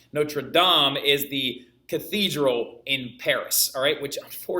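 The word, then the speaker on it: Notre-Dame: and I know some are like Notre Dame Notre Dame is a university that we mispronounce no true DOM is the Cathedral in Paris all right which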